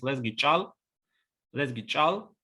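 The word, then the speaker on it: Лезги чӀал: So, for instance, the word for Lezgi language in Lezgi is Lezgi chal, with adjective abruptive ch at the very beginning.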